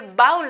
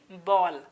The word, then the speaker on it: bowl: ये बाउल नहीं, it's simply बॉल. बॉल. So never ever pronounce this word as ए बाउल.